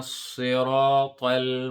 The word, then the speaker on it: صراط: We need to distinguish the sound between the sod and the sin. So just smile when you say the sin. Mustaqim. Sirata. Ta. Si. The sod is a heavy letter here. So sin will be like C, but this is a sod. So si. Sirata.